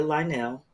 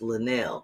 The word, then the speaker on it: Lanell: love that Picasso Sophia Lionel and she said you got to stop saying my name like that I forgot it's Lanell because you know I'm